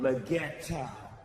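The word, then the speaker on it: Leggero: Is that how you say it, Legato? No, Legato. That's how we say it.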